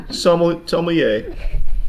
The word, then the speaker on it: sommelier: Did you say somm because you're scared to pronounce the whole word? No. Sommelier.